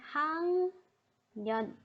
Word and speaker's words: 학년: The pronunciation should be 학년. 학년. This is the pronunciation.